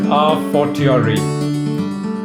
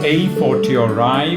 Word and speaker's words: a fortiori: Today's Latin phrase is a fortiori. It's also pronounced as a fortiori, which is typically British, and other pronunciations are a fortiori, a fortiori.